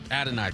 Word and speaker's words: Adonai: You got say his name right, Adonai Mitchell. Adonai, thank you.